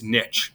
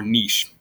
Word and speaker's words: niche: a specific ecological role called its niche right or niche either way you can pronounce it okay so this includes